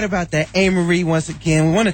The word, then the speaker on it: Amerie: My MySpace is Amerie.